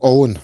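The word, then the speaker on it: Eoghan: The first name spelled E O G H A N. How would you pronounce that? That is Owen, believe it or not.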